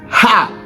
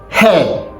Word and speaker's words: her: Nigerians pronounce it as ha.